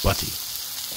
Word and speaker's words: butty: days, the British Bacon Butty. Now, my Midwestern mushmouth wants to pronounce that lazily, voicing the T's, which makes Bacon Butty into Bacon Buddy.